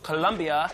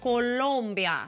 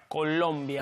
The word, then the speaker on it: Colombia: It comes from Colombia. Hold up. I have been told by people who have lived there that it is pronounced Colombia. Sorry, Colombia. Colombia, not yes.